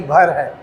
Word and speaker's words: भर: Pronunciation में गलती है, वो भर्ग नहीं भर है, भर का महाजनपद हुआ करता था।